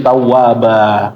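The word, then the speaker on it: تَوَّابًا: Nah, seharusnya bnya ini bukan ba tapi ban ya. Ban seharusnya ban pertama. Nah, kemudian kalau di akhir an dibacanya apa? Bapak ba ya. An ini hilang ya. Kalau kita berhentikan hilang dia menjadi dua harakat ya. Jadi tawwaba kalau berhenti.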